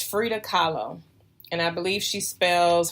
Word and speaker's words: Frida Kahlo: of there's an artist her name was I Frida Kahlo and I could be saying her name wrong but I believe it's Frida Kahlo and I believe she spells her last name